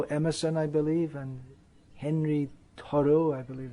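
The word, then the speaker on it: Thoreau: i believe and henry toro i believe that would be pronounced in french it's originally a french name so these are respected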